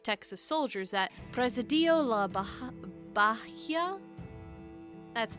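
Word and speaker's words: Bahía: soldiers at presidio la baha baja that's b-a-h-i-a and in spanish you don't pronounce the h's so i'm very confused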